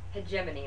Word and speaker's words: hegemony: the list with the word hegemony and the pronunciation of that word is hegemony like gy Cricket so if you'll go to